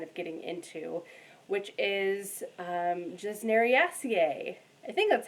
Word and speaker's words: Gesneriaceae: that I'm kind of getting into, which is Gesneriaceae.